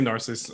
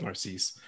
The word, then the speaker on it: Narcisse: certainly by no means least uh is evan narcisse have i pronounced it anywhere anywhere near correctly evan you were close danny i say narcissus i also accept narcisse uh but um i am a writer uh